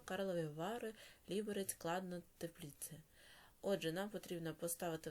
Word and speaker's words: Тепліце: Розинка подорожував таким містами у Чехії: Прага, Карлові Вари, Ліберець, Кладна, Тепліце. Отже, нам потрібно поставити в них наголос, користуючись довідкою.